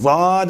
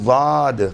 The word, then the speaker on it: ضاد: ادا کرنا بھی صحیح۔ یہ ضاد کبھی بھی باریک دال یا پر دال کے مانند نہیں ہے، بلکہ اس کے تلفظ کو سننے والا ممکن ہے حرف طا ضا والے ضا سے تشبیہ دے دے، لیکن دال سے تشبیہ